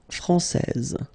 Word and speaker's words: français: main rule, elle est française. Okay, so français, here you get this final S that you don't pronounce, so français, and then when you put this final E here, you will get française.